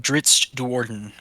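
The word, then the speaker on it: Drizzt Do'Urden: Yeah, the character of Dritz Duorden. Pretty sure that's how it's pronounced.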